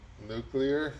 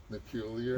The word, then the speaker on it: nuclear: say nar or nuclear how do you say it the real way not like George dubs two or whatever dub two nuclear nuclear nuclear not nucar not nucar all right over and